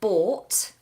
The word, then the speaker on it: bought: some mica has asked the difference between the pronunciation of bought something I pay for I bought it bought and boat something that you sit on to float in the water bought to buy boat to sail one it's a long vowel or bought and a boat is diphthong Oh boat